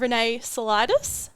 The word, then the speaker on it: Renee Saulitis: our new coach no longer me we have Renee solidus did I pronounce that yes you did yes very good